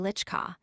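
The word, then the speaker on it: Wieliczka: You must pronounce it Witchka with the accent on the second syllable.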